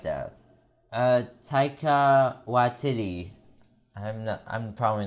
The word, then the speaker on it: Taika: It is tiger, but with a K, and instead of the ER at the end, you can put an A, so it's like Taika.